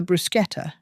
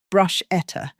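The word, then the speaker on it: bruschetta: I arranged the brusqueta, which she'd pronounce brush eta at least three times on camera, and carried them out as directed.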